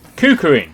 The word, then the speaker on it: KuKirin: Should have really learnt the name before I started filming, but we shall research it and pronounce it on screen now for you. KUKIRIN.